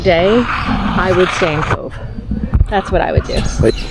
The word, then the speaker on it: Cobh: in the middle of Cove Ireland and it's spelled c o b so the BH is like a V like our c v e but it's c o BH yeah this is where